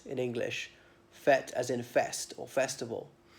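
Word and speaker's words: fête: the other day was fete fate as in mmm like a market affair but spelt f ete with a circumflex in the first e perhaps one of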